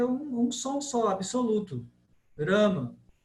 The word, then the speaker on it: Rama: Como a devota perguntou aí, é Rama ou é Ramo? Isso aí é uma variante contemporânea da Bengala. Mas no sânscrito é um som só, absoluto. Rama.